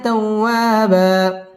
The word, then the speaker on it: توابا: তাওয়া বা দুই জবরের বামে ওয়াকফ হইলে এক আলিফ টানিয়ে পড়িতে হয়। আমরা এখানে এক আলিফ টান দিয়ে ওয়াকফ করব। إنه كان توابا إنه كان توابا إنه